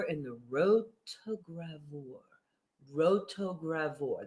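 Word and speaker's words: rotogravure: the road to gravore rotogravor that's how you pronounce that word what does that mean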